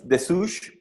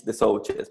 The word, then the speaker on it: Desouches: try to slaughter it yeah if in French is the sushi if you pronounce it in Spanish it's the soldiers but it's the sushi this sushi pronounce it as you want I am